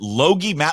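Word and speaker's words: Logie: I'm going to apologize is it is it loie Loi is how you pronounce his name Matt loi's been up Montana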